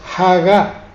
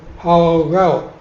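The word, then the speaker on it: הגה: palabra en hebreo es Hagá, con H final, H inicial, Hagá. Graben por favor bien ese sonido, Hagá. Incluso algunos le dan una W, Hagao, más o menos, pero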